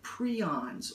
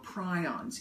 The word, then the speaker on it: prion: what are known as the prions or prions. Either pronunciation is correct.